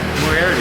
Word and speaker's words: Moriarty: Moriarty, New Mexico. Moriarty, did I say it right? Moriarty, yeah. Okay, Moriarty.